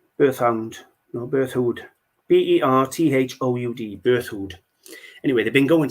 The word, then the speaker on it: Berthoud: very very good um French name I can't pronounce it uh be thought Berthoud earthhound no Berthoud b-e-r-t-h-o-u-d Berthoud anyway they've been going since 1750.